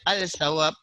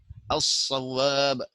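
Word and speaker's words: الصواب: Jangan baca al-sawab, as-sawab, as-sawab.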